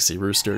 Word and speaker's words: Cirus: can get quite expensive my name is Cirus it's spelled like Cyrus but that's like SE rooster just take it the